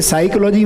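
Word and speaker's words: psychology: हुआ है साइलेंट है जैसे साइकोलॉजी में पी नहीं बोलते ना नॉलेज में के नहीं बोलते कनऊ लग गए ऐसा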